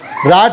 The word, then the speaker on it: write: देखो W नहीं पढ़ेंगे, स्पेलिंग देखें आप, WRITE, लेकिन राइट से रा से शुरू कर रहे हैं, लेकिन W को नहीं पढ़ेंगे, तो W साइलेंट रहता है।